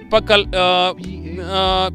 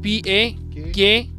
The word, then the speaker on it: Pakhal: How do you spell it? Yeah, Pakhal, P-A-K-A-L.